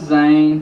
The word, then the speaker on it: Xain: okay this is zane it's spelled with x he is 13 weeks